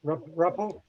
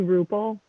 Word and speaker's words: Ruppel: Ruppel? Ruppel. It's actually Rupel. Ruppel sounds more fun, but it's Rupel.